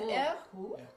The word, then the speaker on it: Erhu: Yes, I don't know whether I can pronounce it. Erhu. That's an Erhu.